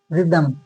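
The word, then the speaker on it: rhythm: नहीं होगा राइनासोरस रायनासोर फिर आर एच वाई टी एच ई एम रिदमम रिदमम तो एच यहां पे भी साइलेंट है आर के बाद एच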